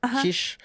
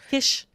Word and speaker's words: Kiss: We had Norbert Kirish Kish. Kish. Um, like the the the reigning or like the the Hungarian races. Yes. Spelled like Kiss but pronounced Kish.